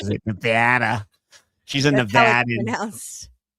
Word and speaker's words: Nevada: You know, she sounds like she pronounces Nevada the same way as you, Ash.